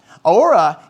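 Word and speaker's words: ὥρα: Ora is the word we use for the cross. And it's where we get our word hour from. In the Greek, it's spelled H-O-R-A.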